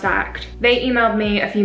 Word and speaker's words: AKT: this one from akt i think it's pronounced act they emailed me a